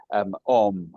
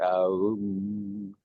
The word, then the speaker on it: Om: And the final song, Om, or Aum, as they pronounce the two chords, Aum.